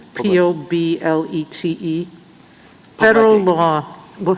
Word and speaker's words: Poblete: I'm pronouncing it wrong, Poblete, P-O-B-L-E-T-E. Federal law. Well, how do you say it? Poblete. Poblete. Okay. I should have said it in Spanish to start with. It is poblete.